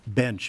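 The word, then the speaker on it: Bensch: Bench, Bench B-E-N-S-C-H. Like Johnny? Like Johnny Bench? Nope. Oh. He's my illegitimate brother. Okay, so, not the spelling I was referring to. Yes, German pronunciation and spelling, B-E-N-S-C-H.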